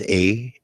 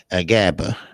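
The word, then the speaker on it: Ajagba: Well, where you pronounce his name is Agaba. Agaba.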